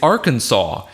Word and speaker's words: Arkansas: Kansas there's all Kansas's there's also our Kansas which is not pronounced that way it's Arkansas and for some reason when